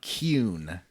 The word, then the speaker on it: Qun: And also, I gotta try hard to say Qun, because that's how they very deliberately pronounce it in this game, and the other one's a slur.